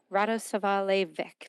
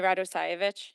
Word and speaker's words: Radosovich: Um, and please tell me how to pronounce it if you wouldn't mind. Sure. My name is Radosovich.